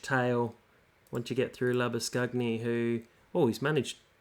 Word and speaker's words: Labuschagne: Which, if you haven't watched the other videos, I'm attempting the Afrikaans version of his name, which is probably how it should be pronounced. But Australians are a little bit lazy when it comes to names and just want to call him Labuschagne because it's a little bit easier.